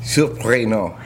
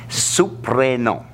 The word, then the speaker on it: Surprenant: Now, right off the bat, all right, we got to get the pronunciation of the name right. Oh, boy. Come on. Surprenant. Surprenant.